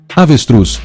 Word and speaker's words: avestruz: Avestruz, macaco ou girafa? Teste sua acentuação. É avestruz. A última sílaba truz é a mais forte na pronúncia.